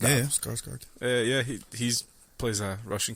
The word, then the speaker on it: Skarsgård: Skarsgård. Yeah, Skarsgård.